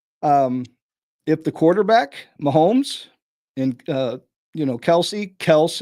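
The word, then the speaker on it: Kelce: If the quarterback, Mahomes, and, Kels is the way they really pronounce it, but everyone calls it Kelsey, so that he just gave up and let it happen.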